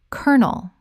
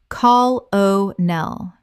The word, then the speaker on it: colonel: Colonel. Common mispronunciation. Col-o-nel. Correct pronunciation. Colonel. 2 syllables only. It sounds exactly like the word kernel.